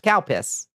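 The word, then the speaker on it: Calpis: C A L P I S. Pronounced cowpiss.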